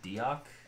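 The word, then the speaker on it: Deoch: So he goes back a couple of days later, and in the book, in the audiobook, they pronounce it Diok.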